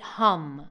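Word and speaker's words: ham: It's pronounced H-A-M, that's the Bija of the throat chakra, but you pronounce it hum, okay?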